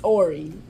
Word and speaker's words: Horry: what is wrong with you we don't pronounce it it's Ori no I think I don't think you'll see